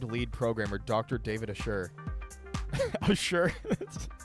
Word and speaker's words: Assure: Assure? If I'm pronouncing that like A-S-S-U-R-E. I think that's. I mean, that's a fine pronunciation. I said David Asher the whole time, but that's also fine.